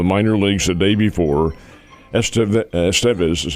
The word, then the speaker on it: Estevez: Estevez is how they pronounce his name, is injured, so they brought up Steven Cruz and brought him into the game in the 9th inning.